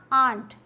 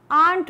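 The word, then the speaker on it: aren't: हटा देंगे, तो बना आंट। प्रोनाउंसिएशन क्या है, आंट बोलेंगे या फिर आंट बोलेंगे। अमेरिकन इंग्लिश में र का साउंड आएगा आंट और ब्रिटिश में आंट।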